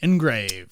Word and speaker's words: ENGRVD: makes our glasses, and they spell it a little funky, so we'll put it in the episode notes. Shout out to you, man. It is engraved ENGRVD, engraved.